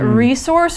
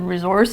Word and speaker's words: resource: I find it interesting that resource, or as you said, resource, is one of those nouns, one of those words that you say differently according to where you're from.